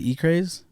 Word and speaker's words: Ecraze: certain way himself, but it's E-C-R-A-Z-E. E-Craze. It's not even E. It's Ecraze. You know what I'm saying?